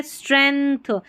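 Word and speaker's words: strength: स्ट्रेंथ एक तरीके से यहां पर देखिए थ का साउंड आ रहा है। स्ट्रेन स्ट्र एन का साउंड भी आ रहा है। जी का उच्चारण नहीं हो रहा।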